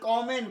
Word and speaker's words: common: আচ্ছা, COMMON, ওটা silent হয়ে যায়, উচ্চারণ হয়ে যায় কমেন, হয়ে যায় উচ্চারণ, কমেন, কমেন, উচ্চারণটা কমেন, কমন নয়, আমি শিখেছি বছর 5-6 আগে, কমেন, আমি জানতাম কমন।